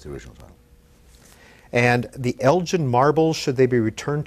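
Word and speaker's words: Elgin: original title and the Elgen marbles should they be returned to Greece what is this very quickly about it's actually Elgen it's a hard G he's the the English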